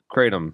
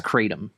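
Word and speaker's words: kratom: it like and also in art am I pronouncing that right it's Krum right katum katum thank you it's katum yeah yeah and then but what were you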